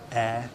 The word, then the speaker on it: Ayr: Ayr, spelled A-Y-R, Air Show, get it?